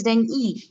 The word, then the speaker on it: dengue: No, it's not dengue, it seems it is dengue. Dengue. Yeah, we pronounce it wrong. It's dengue, not dengue.